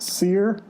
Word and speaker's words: Cyr: I think it's pronounced Sear.